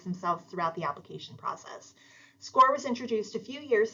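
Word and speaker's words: SCOIR: bit about score so SC i r is pronounced score um score is our relatively new college application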